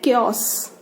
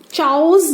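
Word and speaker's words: chaos: Next हमारा word है क्योस। क्योस, ठीक है। अब क्योस को प्रोनाउंस हम क्योस कर रहे हैं, लेकिन अगर हम देखें तो ये चाउस जैसा लग रहा है, चाय जैसा।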